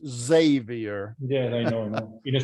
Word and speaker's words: Xavier: Some people don't know how to pronounce it, so they pronounce it Xavier, but it's really pronounced Xavier.